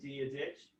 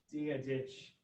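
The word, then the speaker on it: Dia dhuit: So dia ditch. Oh, yeah, like the name. Yeah. Oh, I was expecting to see an H somewhere. Yeah, the pronunciation is quite strange.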